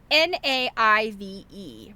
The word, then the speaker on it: naive: Honestly, Jerry, naive should be your middle name. Here was another word I didn't know. I could only glare at Mary and snarl. It should not. N A I V E pronounced naive and means wholesome and sort of dim.